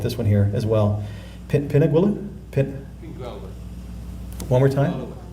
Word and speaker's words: Pingualuit: Pingualuit? One more time? Pingualuit? Yeah. Okay, hopefully that's it for the pronunciations.